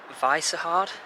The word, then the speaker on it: Vyšehrad: And now at the south of the city, but a place called Vyšehrad, that's how you pronounce it.